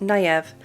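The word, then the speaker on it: Niamh: couple of things first I forgot this was an Irish name so it's pronounced naive and also it looks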